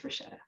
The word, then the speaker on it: Rashetta: And everybody else, this is how you say her name. So please don't make a mistake. It's Rashetta.